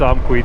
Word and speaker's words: Amqui: headed toward SPS um amqui yeah okay I pronouncing it wrong she helped me she corrected me but yeah we're headed towards amqui today we have from what